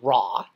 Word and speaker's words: Ra: want to bring it up it can mean raw PR or really pronounced Raw raw which if you know your